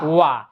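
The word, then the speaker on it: は: যে এটা লিখছে কি এখানে হা কিন্তু যেহেতু এখানে এটা পার্টিকেল হিসেবে আসছে এটা উচ্চারণ কি করব ওয়া এই যে ওয়া নামে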